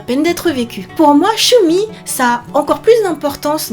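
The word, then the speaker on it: 趣味: Donc en deux syllabes, Shumi, Shumi avec un petit yu qui vient transformer le shi en shu.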